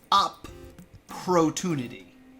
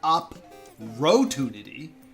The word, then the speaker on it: opportunity: arguing I promise uh the double p in opportunity uh the P sound is on both sides of the syllables up protunity up protunity it's not up rotunity or opportunity it's up protein